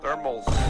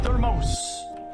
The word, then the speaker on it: thermos: Thermals. No, a thermos. Thermals. No, a thermos.